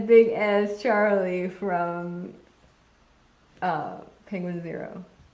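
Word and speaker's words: Penguinz0: as Charlie from uh penguin zero not pronounced penguinzo I really wish it was pronounced penguinzo when I found out that that the one YouTube channel was pronounced penguin zero I was very sad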